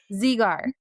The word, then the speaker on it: Zegar: So it's like Z just, with a gar.